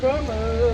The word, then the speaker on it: Como: Lake coo coo com como como como do you know why because in Italian it's like Kom in English it's KO so I'm just merging the two and it's coming out